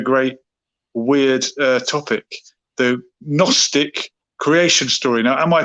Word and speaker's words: Gnostic: with a silent k the gnosis has a silent g is that uh from